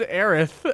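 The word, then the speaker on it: Aerith: it is supposed to her name is aith uh because apparently it's supposed to sound like the word Earth in in Japanese it's supposed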